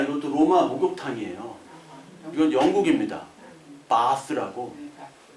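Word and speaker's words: Bath: 바스라고. 베스가 영어잖아요. 근데 영국 발음 바스.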